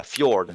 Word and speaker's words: fjord: don't the J is yeah fjord. Yeah. Yeah. Fjord. Yeah Yeah. or yeah. Fjord. Uh, Yeah. Yeah. Your. yeah. Fjord. Fjord. Okay, that's Fjord. if you pronounce it like a proper Norwegian, it's fjord.